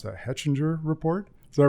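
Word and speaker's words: Hechinger: Jackson is regularly cited in stories that appear in, I can't even pronounce that, Hetchinger Report?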